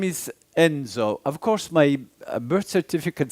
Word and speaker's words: Enzo: very much as he heard my name is Enzo of course my birth certificate says Vincenzo so